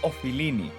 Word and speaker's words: Ofilini: you pronounce this name not offline not of feeling it's ofilini okay it comes from off okay filos means friend philia means friendship so this